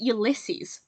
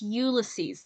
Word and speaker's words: Ulysses: Ulysses don't pronounce it Ulysses please don't pronounce it Ulysses it's Ulysses the emphasis is on the U please at least when